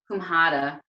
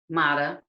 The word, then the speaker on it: Kushmanda: And so that's kumhada or kumada. I'm sure it says, you know, it's pronounced a little different, but kumhada is how I picked it up.